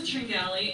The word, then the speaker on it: Tringali: name is Tringali, and I like having a name that's easily pronounced, but very easily mispronounced when you read it, T-R-I-N-G-A-L-I.